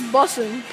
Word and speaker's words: bussing: This is bussing. Right? Bussing rhymes with butts.